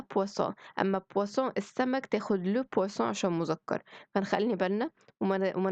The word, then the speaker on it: poisson: الpoisson الأولى دي كلمة مؤنث تاخد la poisson، أمّا poisson السمك تاخد le poisson عشان مذكر، فنخلّي بالنا وما نغلطش ما بينهم، الب خفيفة مشروبات تاخد la، واللي ب تقيلة سمك تاخد الle.